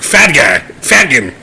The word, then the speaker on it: fhtagn: It's like FHTAGN. It's like Fadgan.